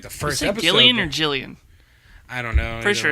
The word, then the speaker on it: Gillian: Yeah, I'm pretty sure it is Gillian Anderson. But it's Jillian.